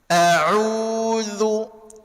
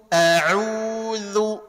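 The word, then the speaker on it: أعوذ: Tegaskan saja penyebutan Hamzah karena dia mesti tahkik. Jelaskan. Auzu. Auzu.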